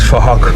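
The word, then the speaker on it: Phuc: His name is Fahak, but it's spelled with a PH, so it sounds like Fahak.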